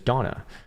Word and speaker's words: Dana: I've actually seen some girls who have their name spelled like that, Dana, but they like the way that you say it is Donna, which is, I don't know, it just doesn't make sense to me.